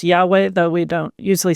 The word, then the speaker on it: Yahweh: So, so Israel had um the Lord uh sometimes pronounced Yahweh, though we don't usually say the name out of respect for uh the holiness of God's name.